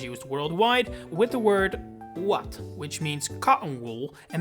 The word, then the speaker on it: ouatte: worldwide, with the word… ‘ouatte’, which means cotton wool and may be written completely differently, but is pronounced exactly the same.